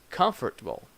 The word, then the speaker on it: comfortable: that's not correct that in English we have different stress so we say Hotel comfortable vegetable so this is